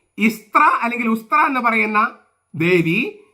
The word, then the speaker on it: Eastre: ഇസ്ത്രീ ഉച്ചാരണം, പക്ഷെ spelling EASTRE, ഇസ്ത്രീ എന്നാണ് ഉച്ചരിക്കുക.